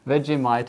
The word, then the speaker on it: Vegemite: We got that Vegemite from...